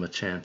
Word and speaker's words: Machamp: or with champ unfortunately the stress on machamp is on the second syllable uh i think yeah